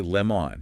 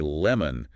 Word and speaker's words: lemon: Wait, lemon, it's spelled with an O. But you don't say lemon, you say lemon. That is the schwa.